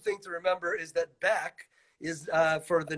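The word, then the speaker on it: Baeck: It's one big long word, and the important thing to remember is that Beck is for the name of the great German Rabbi Leo Beck, which means it's spelled the German way.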